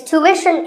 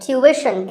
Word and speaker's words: tuition: like the word tuition it's tuition in american english and tuition in british english so what's the hidden sound here well the first syllable is easy two american or two british but after that it's not ishan it's wishin tuition you have to put the what sound there so tuition word number 41